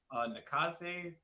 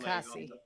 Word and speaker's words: Nakase: I forget how to I'm going to mispronounce her name. Nakase, please don't Nakasi, I think.